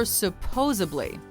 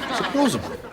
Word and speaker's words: supposedly: Is it pronounced supposedly or supposably? The lovable but dim Joey Tribbiani from Friends isn't the only person who gets stumped by this one. Supposedly. Supposedly.